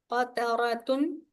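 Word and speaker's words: قطرةٌ: Qataratun. Okay. Qaf fathah qa, ta fathah ta, qata, ra fathah ra, qatara, ta kasra, ta dhammatain tun, qataratun. Yes, make the ra heavy and ta not dhammatain.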